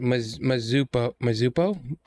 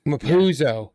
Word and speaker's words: Mapuzo: Mazupo. Or really? I wrote it down in my notes. Where was it? Yeah, I'm spacing out how you say it's like Mapuzo.